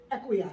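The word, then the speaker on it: Ekua: Okay, so my name is Equia.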